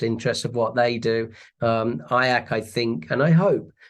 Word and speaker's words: IACC: So, throughout the industry and globally, the association is fondly known as IAC, the only word that rhymes with kayak, I've been told.